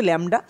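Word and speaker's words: lambda: ল্যামডা মানে তরঙ্গ দৈর্ঘ্য এই উচ্চারণ হচ্ছে ল্যামডা আর এটা হচ্ছে নিউ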